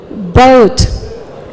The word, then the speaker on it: boat: Padahal ini bacanya hanya satu, B-O sama T, bought. I bought it yesterday. Bought. Kalau ini boat.